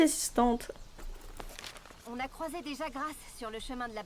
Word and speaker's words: Jagras: Donc le S se prononce. Merci assistante. On a croisé des Jagras sur le chemin de la base.